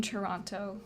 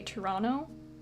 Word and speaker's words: Toronto: I'm the only person from Toronto that pronounces the second T in Toronto. Most people say Toronto or Toronto.